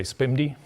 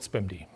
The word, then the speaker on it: SPMD: Well people usually say spamd I don't know if that's the right way to do that but let's call it spamd.